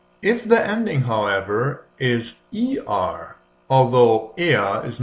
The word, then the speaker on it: er: Now, if a syllable ends in r, the r is pronounced like a short a, like a. For example, er, Tür, Tor. If the ending, however, is er, although er is not